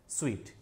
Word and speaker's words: suite: तो इसका प्रोनाउंसिएशन है स्वीट।